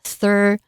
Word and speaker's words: thorough: homeowner 就是我们刚刚说跟 throughout 长得很像的That sounds thorough，最后一个字的 thorough 好注意发音thor T-H-O-R thorough O-U GH 还是不发音。这里的 thorough 呢则是一个形容词，它指的是很完整的意思。有时候我们做计划会希望考虑到所有的细节，所有的面向，我们就可以说这个计划是一个很完善完整的计划 A thorough plan